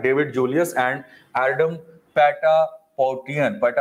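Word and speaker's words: Ardem Patapoutian: 2021 में फिजियोलॉजी और the medicine 2021 अवार्ड मिला है डेविड जूलियस एंड एडम पैटापोटियन ऐसे करके प्रोनाउंस करेंगे दो में, इंग्लिश में थोड़ा अजीब हो जाता है ये, राइट।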